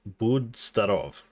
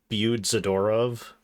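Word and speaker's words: Будь здоров: So, the pronunciation of what Nancy said is Budzdarov, not Budzadorov.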